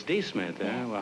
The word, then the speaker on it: D'Smith: My name is not Smith, it's D. Smith. Oh, it's D. Smith, eh?